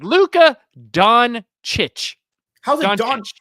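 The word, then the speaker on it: Dončić: It's Luka Doncic. How's it Don? It's not set yes, the way it's spelled.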